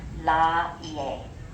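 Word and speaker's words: Lāʻie: So you would separate the A from the I, and this would be la-ie.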